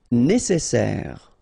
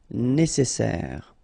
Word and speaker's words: nécessaire: Nécessaire. Don't insist on the final E. Nécessaire.